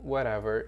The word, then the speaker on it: whatever: então aqui let não Ok whatever bem facinho whatever esse T tem som de R aqui tá bom T tem som de R whatever Então vamos ouvir mais